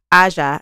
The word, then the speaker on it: Aja: Oh, and I said the name wrong is Asia.